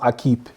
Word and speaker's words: Equipe: believe is a French word it's called It's pronounced I keep um that's the RS line so the Aqib RS spring fall bib shorts S9 is what